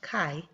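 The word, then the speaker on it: χ: the Greek letter Kai it looks like this an italicized X but it is pronounced Kai and then we Square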